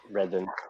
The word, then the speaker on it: Reading: I mean, or if you live in you say Reading, not Reading. Reading, yep. Reading. Redden.